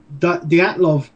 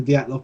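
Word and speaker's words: Dyatlov: Okay, the Dyalov Pass Incident, and that is the correct, well, at least it seems to be the correct pronunciation of it, because that's how it's pronounced in the film, which is about a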